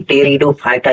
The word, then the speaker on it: Pteridophyta: तो देखिए, यहाँ जो पी है, ये पी साइलेंट है। इसका मतलब हो गया PTERIDOPHYTA, यानी कि टेरिडोफाइटा। यहाँ पी जो है साइलेंट है।